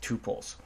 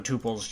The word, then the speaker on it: tuple: If you have any questions on tuples, you could Google Python tuples, and it's spelled tuple like that, or tuple is another way of how it's pronounced.